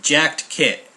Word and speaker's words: Jaktkit: the company that makes this is called the Jack kit right jacked kit I had to ask them how to pronounce that because my Swedish is not that